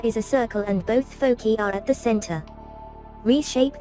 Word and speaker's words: foci: And by the way, as far as things goes, since we're dealing with two focal points, the right way to say it is foci, and that's F-O-C-I.